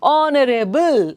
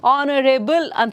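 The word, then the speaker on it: honourable: next one Rebel honorable so H is silent honorable honorable there is no work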